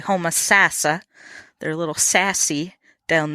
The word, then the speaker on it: Homosassa: I keep saying in this interview you hear Homosassa, but the locals say Homosassa.